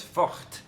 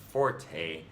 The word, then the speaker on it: forte: speakers pronounce it, then why wouldn't you tell me I have to pronounce it as forte with a uvular fricative the way an actual French person would say it?